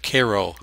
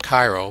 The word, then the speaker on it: Cairo: city not far from here is is Koo Illinois not Cairo but Koo so it's New Madrid